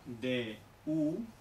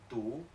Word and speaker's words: du: Por ejemplo, D-U, ¿ah? Con ese tono, por ejemplo, pues no se pronuncia du, sino que se pronuncia tu, tu, tu, como una T española.